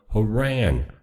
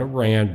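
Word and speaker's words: Harran: from to us from Haran. Not Iran but Haran.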